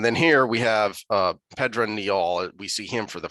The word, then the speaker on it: Pedron Niall: here we have uh pedra neol we see him for the first time um i just looked up the pronunciation in the back pedrone niall pedro nyol okay it was like yeah